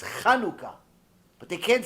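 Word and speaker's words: חנוכה: Like Chanukah. Hanukkah. No, it's not Hanukkah. It's Chanukah.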